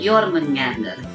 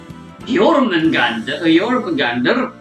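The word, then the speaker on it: Jörmungandr: This treasure was named Jormungandr, and it was created by taking energy from Yggdrasil.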